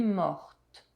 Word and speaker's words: morte: If the past participle ends in a consonant, adding I or IS make the final consonant pronounce. Je suis mort, je suis morte.